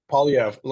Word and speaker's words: Poilievre: Poilievre, I believe it's pronounced. Polyev, yeah, Polyev.